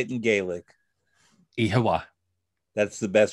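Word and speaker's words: Oíche mhaith: Ihawa. That's the best. It sounds Japanese. Say it again. Ihawa. That's Japanese. I promise you it's Irish. Conor, thank you for this wonderful visit.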